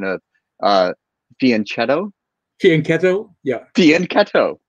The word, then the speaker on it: fianchetto: pronounce the italian way the ch in italian like that is pronounced like a k yeah yeah so ever